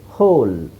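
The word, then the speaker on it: whole: ಇನ್ನು ನೋಡಿ ಇಲ್ಲೂ ಅಷ್ಟೇ ಹೋಲ್ ಹೋಲ್ double silent answer double ಅವಶ್ಯಕತೆ ಇಲ್ಲ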